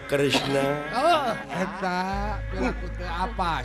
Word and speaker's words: Kresna: Tah eta Batara Kremes. Batara Kresna. Kremes aing mah. Padahal nu leresna mah Kresna.